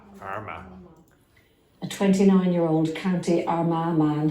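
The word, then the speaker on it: Armagh: because it's an adjective and how do you pronounce that word again Arma Arma a 29-year-old County Arma man has been sentenced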